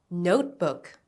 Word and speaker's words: notebook: Notebook. Notebook. Stress on note.